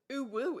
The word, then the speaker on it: ooo: that made ooo popular ooo isn't spelled oooo in it it's spelled like this but the video that adapted it pronounced it oooo ooo has transcended ooo